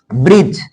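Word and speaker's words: bridge: D silent कहां रहेगा यदि डी के बाद जी आए तब वहा डी साइलेंट रहेगा किसके बाद में डी के बाद जी आए तब वहा क्या साइलेंट रहता है डी साइलेंट रहता है जैसे ब्रज ब्रिज बी आर डी जी इसको बोलेंगे ब्रिज ब्रिज ब्रिज मींस पुल एज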